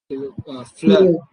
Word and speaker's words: fleur: Fleur. Similarly, fleur. R, Fleur. very slight sound of R.